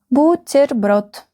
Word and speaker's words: бутерброд: Бутерброд. The last syllable is stressed.